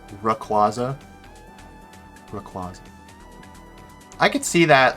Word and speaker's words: Rayquaza: I always thought it was a R sound at the start of, not a Ray, like Rayquaza.